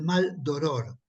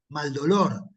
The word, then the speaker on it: Maldoror: mal d oror eh explico que es maldoror y que no lo estoy pronunciando mal no Porque muchos podrían interpretar que yo hubiera querido decir mal dolor pero no eran mal dolor no sé a a